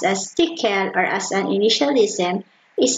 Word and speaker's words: Tcl: machines which had no assembler tcl pcl are pronounced as decal or as an initialism is a high-level general